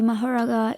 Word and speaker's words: Mahoraga: as in bhist mythology mahara is the Sanskrit pronunciation of his name I will also call